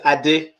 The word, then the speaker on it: Ade: So the Well, right pronunciation is Ade, right? Ade, and I say Ade.